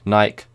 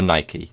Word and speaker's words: Nike: phrases for example red naik men's running shoes red naik men's running shoes so or Nike depending on your form and how you say it so that is the